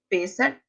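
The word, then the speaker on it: Pessach: não tava na dúvida se a pronúncia era Pêssar ou Pessar, mas Pêssar, a festa de Pentecostes e Tabernáculo.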